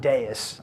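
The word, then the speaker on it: Deis: get deus um and it is pronounced deus um i get this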